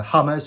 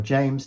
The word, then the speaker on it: James: had this scenario where Hummers or James depending upon which way you want to pronounce it Rodriguez was injured for